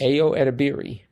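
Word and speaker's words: Ayo Edebiri: the actress edir of the bear AO yes AO edir yes you say that like you know Ao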